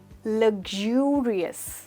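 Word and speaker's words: luxurious: ये है लग्जूरियस, that's right, लग्जूरियस। तो यहाँ पर जो X है उसकी प्रोनाउंसिएशन है यू, यू, दैट्स राइट।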